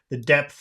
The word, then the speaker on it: depth: you have to do this in three parts. First, you say dep. That's part number one, saying dep.